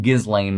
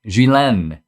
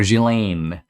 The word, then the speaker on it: Ghislaine: gizlane maxwell trial and i'm saying gizlane because that's how our name is spelled i think that's how most people read it it's actually a french name gillen or jillaine so anyway she's on